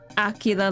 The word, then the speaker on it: Aquila: Mandarin is pronounced Aquila like Aguila.